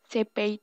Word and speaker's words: Cepheid: Cepheid itu bacanya Cepheid.